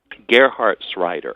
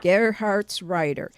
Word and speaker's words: Gerhartsreiter: How do you pronounce his last name? Gerhartsreiter. Gerhartsreiter.